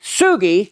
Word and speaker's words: Sugi: this and as kichi with a hard G Sugi in 1945 when he first discovered sugalite would love for us to all pronounce his name correctly with the hard G naming it sugalite little